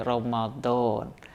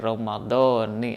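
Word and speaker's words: رمضانِ: Allah subhanahu wa ta'ala misalnya kita di Indonesia sering Membaca niat puasa dengan yang lengkap kita mengatakan Nah itu Syahri Romadhon 8 Romadhon yang ada di sana ketika diidepatkan digabungkan pada pada hari hisanati maka cara bacanya harus dibaca kasrah dengan demikian kita harus mengatakan harus membaca nawaitu saumalodin an ada ifardi Syahri Romadhoni hadis sana saudaraku yang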